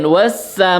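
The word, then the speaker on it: وَالسَّمَاءِ: Jadi dibacanya langsung lebur wassa ya, jangan walsa ya itu. Kemudian was-samaa'i, ma itu setelah mim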